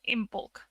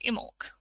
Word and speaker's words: Imbolc: start of the show i mentioned in bulk well it's actually probably more pronounced immork and that comes from